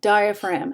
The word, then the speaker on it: diaphragm: want to seize the diaphragm how do you spell diaphragm that's right d-i-a-p-h-r-a-g-m you got it the sneaky silent letter okay so you don't